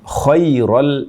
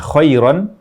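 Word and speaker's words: خَيْرًا: kita akan bahas Insyaallah kesalahan pertama membaca kata kiron Al wasiyah menjadi khairol wasiyah yang tadinya khairon menjadi khairo ini berarti menghilangkan huruf nun huruf nun yang mana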